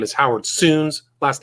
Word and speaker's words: Sounes: Again, his his name is Howard Suns. Last name is spelled S O N.